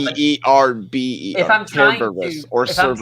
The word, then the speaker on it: Cerberus: In English, it's always Cerberus. The way that Danny pronounces it is Kerberos. If you pronounce it in Greek, it's Kerberos.